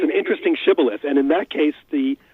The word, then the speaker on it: shibboleth: love yourself hey Luce is a modern day Shibboleth did I get that right you did and